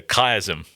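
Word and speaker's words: chiasm: Um so biblical scholars call that the kaism. How do you spell that for us?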